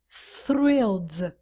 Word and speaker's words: thrilled: I'm thrilled for you careful because you have th sucess so thrilled no thrilled to be thrilled I